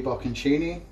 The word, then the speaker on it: bocconcini: Some of our baby bocconcini.